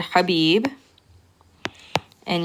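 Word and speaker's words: حبيبة: And when you're pronouncing it, you don't have to write the fatha, but you're simply pronouncing the letter before it with a fatha.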